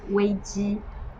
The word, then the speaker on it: 危机: So crisis in Chinese pronounced as 危机.